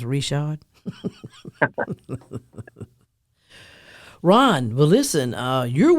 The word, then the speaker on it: Richard: that Cajun last name looks like Richard but pronounced Richard Ron well listen uh